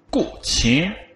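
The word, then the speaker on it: 古琴: Qin wird es geschrieben, aber die Aussprache ist anders. Ich kann kein Chinesisch. Dafür dann hier ein Aussprachebeispiel. Ich hoffe, es kommt. Guqi. Ja, Sie hören also Guqi.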